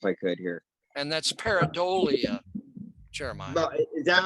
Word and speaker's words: pareidolia: And that's pareidolia, Jeremiah. But is that how it's pronounced? Pareidolia.